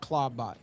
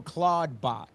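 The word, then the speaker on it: Clawdbot: to my ex account and everybody's talking about Claudebot. And the way that you spell it for anybody who's watching or listening, it's C L A W D B O T. Um, so Claudebot, but what just happened that I saw was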